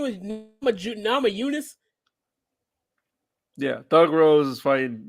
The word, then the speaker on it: Namajunas: It's Namajunas. Thug Rose Namajunas. Put some respect on her name. Oh, well, you just could have said Thug Rose. I ain't know her last name was Namajunas.